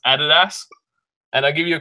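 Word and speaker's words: Adidas: subscribe to this amazing pod it is actually pronounced added ask and I give you a quick history lesson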